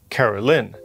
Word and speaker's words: Caroline: This is Caroline or I guess technically pronounced Carolyn.